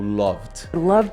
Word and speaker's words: loved: Tem esse som ou loved. Tem esse som. Loved. A gente tem essa questão da pronúncia, porque tem muito a ver com a